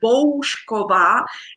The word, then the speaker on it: Boušková: So Boušková, it's like home. Bow. Yeah, like bow or like Boušková, home.